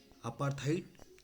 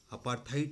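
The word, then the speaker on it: apartheid: यहाँ पे ट दिख रहा है, इसका प्रोनाउंसिएशन देखेंगे तो रियली में ट होता है। कोई भी प्रोनाउंसिएशन की डिक्शनरी में देख लीजिए, आपको लगता है ड, आप एग्जामिनेशन पॉइंट ऑफ व्यू से ड ही कंटिन्यू करिए।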